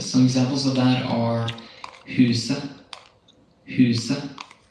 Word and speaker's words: huset: When you see the letters ET in Norwegian, the T may be silent. And some examples of that are huset, huset, det, uke, uke.